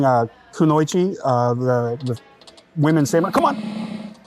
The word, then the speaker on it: kunoichi: There was actually female ninjas, and they were called kunoichi, I believe is how it's pronounced, kunoichi.